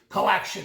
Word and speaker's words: Co/Action: Do you pronounce the / or say /action, or do you ignore it? And second, is that supposed to be like a karate chop to the competition? Coaction will chop you off. We do not pronounce it, but it is intended